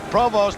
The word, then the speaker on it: Provost: And for those of you who may be wondering about the pronunciation of Ted Provost name, it is a French name initially from Canada. Provost, an American boy who went to Ohio State, prefers to be called that way.